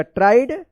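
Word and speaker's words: tried: ई डी यहां पे आई ई का आई उच्चारण होना ट्राइड पढ़ेंगे इसको ट्रीड मत पढ़िएगा ट्राइड टो एन ई क्या पढ़ेंगे इसको इसको वन पढ़ेंगे।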